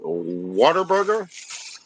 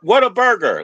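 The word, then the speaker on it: Whataburger: It says what a like what a b what a burger. Like I would say what a gal. Don't say water.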